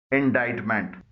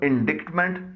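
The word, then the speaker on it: indictment: इंडाइटमेंट, इसको इंडिक्टमेंट नहीं पढ़ा जाता है, इसमें सी साइलेंट है।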